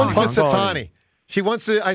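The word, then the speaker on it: Punxsutawney: Poxatani. Punksatani. Punkatani.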